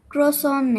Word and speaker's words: croissant: अच्छा जी, standard American English, क्रॉ क्रॉसैंट। For British English, क्रॉसा।